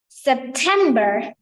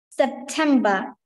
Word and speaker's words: September: read this word in September perfect but no will be pronounced in British English uh September September how many syllables are there three syllables and which one is the stressed one the second syllable 10 and can you